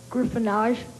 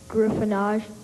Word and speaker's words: griffonage: screen round 21 capturing this on video Griffin gyffin can I have a definition gryffin is careless handwriting um crude or a crude or illegible scraw what's the origin French look on face any alternate pronunciations no gyffin can I have a sentence the pharmacist assured